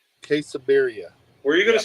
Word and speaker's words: quesabirria: Quesabirria? Quesabirria.